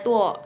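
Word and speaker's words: duo: Nah, lalu D ini D U O dibacanya tu.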